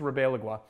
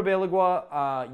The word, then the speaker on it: Ribalaigua: I think that's how it's pronounced. You know what? I've written it below. You guys can correct me if you want, but I think it's Ribalaigua. Anyway, Constantino Ribalaigua used to work at